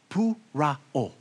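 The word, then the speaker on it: πωρόω: Pou-ra-o. Pou-ra-o. Now, look to your neighbor and say, pou-ra-o.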